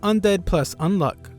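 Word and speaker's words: Undead+Unluck: they decided to call Undead plus unluck Fuko explains that the plus is silent and she patiently waits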